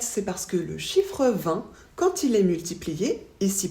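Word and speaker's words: vingt: 20 se prononce toujours 20 on ne prononce pas le T jamais peu importe ce qu'on ajoute après quand c'est 80 on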